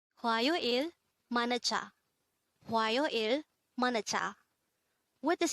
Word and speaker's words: 화요일: HWAYOIL. HWAYOIL. This is composed of 3 syllables. The first syllable is hwa, second syllable is yo, and third syllable is il.